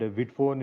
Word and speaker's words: Vidphone: I'm assuming that's how we pronounce it, right? Uh, initially, Yeah, I was Vidphone is correct. Vidphone is correct.